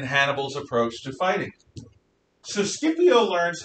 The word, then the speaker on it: Scipio: time a roman commander appears his name is scipio yeah i looked it up that's how you pronounced it s-c-i-p-i-o is scipio scipio takes a roman army to